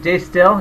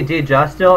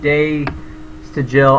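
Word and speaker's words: De Stijl: Deja Still, was that Day Still? Do you know him? That White Stripes album. I always say Deja Still. It's not. It's like Day Still. I don't know how you fucking say it.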